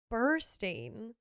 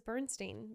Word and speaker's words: Burstein: dozens of times, and I feel terrible that I've always gotten his name wrong. It's Burstein. I have no idea why I thought it was Bernstein, but that's my bad.